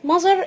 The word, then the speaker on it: mother: أم يعني خلي بالك من النطق عشان هوضح لك نقطة. هنا كلمة mother احنا متعودين نقول ما، لا غلط، نقول mother mother mother.